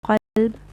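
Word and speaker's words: قلب: So when you pronounce a ta as a or a qaf as a kaf, like when you recite qalb and kalb, the heart becomes dog and the dog becomes heart. So changing of the letter comes how?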